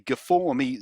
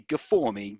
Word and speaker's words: G4ME: So they call them the G4ME Zero and G4ME One. And yes, I'm sure they want us to pronounce the number 4 in the name as an A sound, so it spells game.